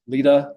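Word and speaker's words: LEDA: for site Readiness so the way that I pronounce this is Lita logart that stands for Local Economic Development act local option gross receipts tax this has been on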